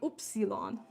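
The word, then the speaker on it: Ypsilon: For those of you who don't know, Germans pronounce the letter Y, oopsilon.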